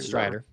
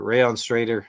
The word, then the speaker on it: Strader: Strider. Strider. Sorry, we're going to mispronounce things a ton, folks. That's right. Not not not curvier, but Straighter. Rayon Strader.